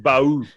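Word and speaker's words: Bauh: No, but it's actually pronounced Bahoo.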